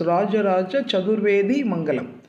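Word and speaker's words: Rajaraja Chaturvedimangalam: People listen to the pronunciation. It is Rajaraja Chadurvedi Mangalam.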